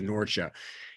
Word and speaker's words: Norcia: It's now called Norcia. The modern pronunciation is Norcia.